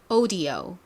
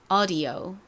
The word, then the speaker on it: audio: 자, 영국식 한번, 미국식 한번 발음해 볼까요? 영국식부터 갈게요. O로 시작하죠. audio. 이번엔 미국식 audio.